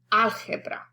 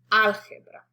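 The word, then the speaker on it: álgebra: short so to recap the natural stress in spanish is 90 of the time on the second to the last syllable enchilada unless specified algebra algebra and the vowels are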